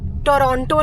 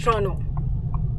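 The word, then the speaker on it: Toronto: आपको पता है कि नहीं पता है, बट लेट me tell you, टोरंटो नहीं बोलते, इट्स टोरंटो। That's how you pronounce टोरंटो।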